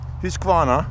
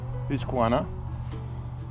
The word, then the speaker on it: Husqvarna: Husqvarna, I think that's how they say it in Sweden. Husqvarna.